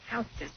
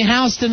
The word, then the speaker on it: Houston: Houston Street. Houston. Why is it only Houston in New York and everywhere else it's Houston?